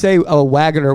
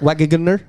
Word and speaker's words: Wagner: How do you say Wagner when it has two G's in it? It's still Wagner. Wagner? No, it's still Wagner. The second G is silent.